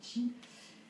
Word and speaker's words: qi: C'est-à-dire que chaque chose contient une énergie, ce qu'on appelle le chi, QI, qui se prononce chi.